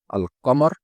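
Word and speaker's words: القمر: These names, qamariya and shamsiya, originate from the words al-qamar, the moon, as Lam is pronounced in the word al-Qamar and ash-Shams, the sun.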